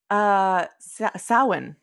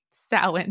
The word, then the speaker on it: Samhain: He's also the one that told us how to properly pronounce. Samhain. Samhain.